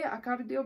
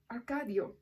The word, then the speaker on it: Arcadio: little less than impossible at that time Jose acaradio buendia oh arcadio I'm saying it wrong promised to undertake it